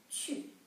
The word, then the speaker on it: 去: Maybe they don't know that sometimes when you see wu in a syllable, actually we say yu. For example, when we say to go, 去, right? Not 去, okay, it's 去, yu, 去.